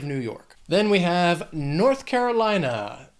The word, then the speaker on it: North Carolina: Then we have North Carolina. This state has 5 syllables, but Carolina, the stress is going to be on the third syllable in that word. Carolina, Carolina, North Carolina, another state with a more distinct accent.